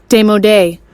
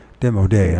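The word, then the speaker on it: démodé: Is that how you pronounce that word? Let's see how it's pronounced. They might not even recognize it. Demodé. Demodé. I knew I didn't say it right.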